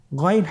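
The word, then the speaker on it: غين: চেষ্টা করুন আবার বলুন গাইন গাইনের মাখরাজ কোন জায়গায় আপনারা স্ক্রিনে দেখতে পাচ্ছেন ছবিতে দেখা যাচ্ছেন হারাফটি উচ্চারিত হয় কন্ঠনালীর শেষ ভাগ হতে এখান থেকে উচ্চারণ করুন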